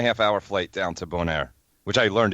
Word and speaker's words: Bonaire: hour flight down to bone air which I learned it's called pronounced bone air not Bonaire bone air Oh an